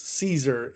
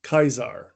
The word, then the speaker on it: Caesar: And apparently, I didn't know this, but in Latin, it wasn't pronounced Caesar, it was pronounced Kaisar.